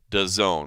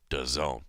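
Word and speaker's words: DAZN: that's how it's pronounced does own the company is all caps da ZN but if you want to say it right it is does own uh big deal I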